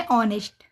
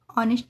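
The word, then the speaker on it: honest: देखते हैं एग्जांपल जैसे ऑनेस्ट इस एच के अह इसमें भी एच के बाद ओ आया तो एच का उच्चारण नहीं हुआ क्या बोलेंगे इसको ऑनेस्ट ऑनेस्ट यानी ईमानदार।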